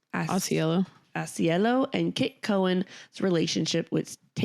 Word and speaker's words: Ausiello: Ausiello. Ausiello and Kit Cowan's relationship, which takes a tragic turn when Cowan is diagnosed with terminal cancer. Sad. Yeah. So we have our author, Michael Ausiello, and director, Michael Showalter.